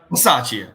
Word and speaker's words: Bisaccia: Is it Bisaccia? Bisaccia.